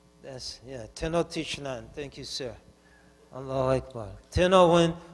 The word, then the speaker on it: Tenochtitlan: When Cortez went to what will become Mexico City, I'm tired, so I can't pronounce it right. Talacha, who knows Mexico? Talachalan, Tenochtitlan. Tenochtitlan.